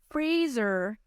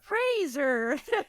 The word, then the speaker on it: Fraser: name and he goes That's Brendan Fraser like Razer like he was like